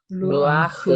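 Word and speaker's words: רוח: 루아흐. 루아흐가 편하죠. 네. 예. 자, 이게 그래서 여기 아라고 하는 모음이 여기 들어갑니다. 자, 이 모음을 보조 파타크라고 합니다. 예. 그러니까 루흐가 불편하니까 이 장모음 다음에 후음이 나오면 불편합니다. 발음하기가. 그래서 여기 보조해 주는 것이 바로 이 파타크입니다.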